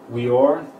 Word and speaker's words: Weor: Weor, or pronounce that with a V, Or, means and light.